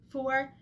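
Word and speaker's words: pho: particular that I love for f or fo depending on how you say it um pretty much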